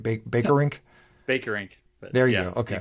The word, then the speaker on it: Bakerink: Bakerink.